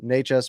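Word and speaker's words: Nečas: Natchez makes a nice little move.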